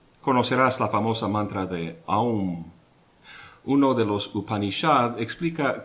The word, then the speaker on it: AUM: de los cuatro elementos el sonido se inicia en la garganta con la A a luego llena la boca con la u Au y se cierra con la m a estos tres elementos